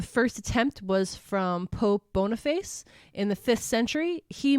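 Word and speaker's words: Boniface: attempt was from Pope bonface in the fifth century he moved the celebration to May 13th that's pronounced boner face okay yeah boner face so he I'm joking it's bonfice I just was joking no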